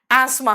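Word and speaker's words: asthma: है है ना आप कहोगे भाई साइलेंट तो रखा काहे था एनीवे एस्मा होता है है ना बहुत सारी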